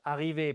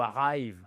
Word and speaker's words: arrive: To arrive, arriver, pas to arrive. Non, to arrive. Voyez notre accent tonique? The stress is on the second syllable.